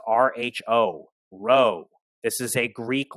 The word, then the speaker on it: rho: p it is not a p it's a row and it's pronounced rho rho this is a greek letter and it